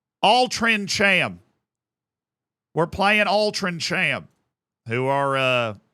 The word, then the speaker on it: Altrincham: We got that team that apparently I horribly pronounced. Altrincham. Altrincham.